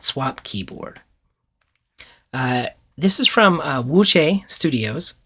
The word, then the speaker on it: Wuque: This is from Wuque Studios, sometimes pronounced Wuque, Wuque. I'm pretty sure I'm saying that right.